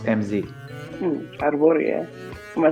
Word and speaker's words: Hrvoje: Your name is pronounced MZ. Hrvoje.